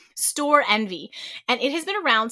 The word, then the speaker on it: Storenvy: Next up, we have the marketplace site called Store Envy. So it's spelled Store, STORENVY. So they've smushed the two words together and took out one of the E's. Store Envy.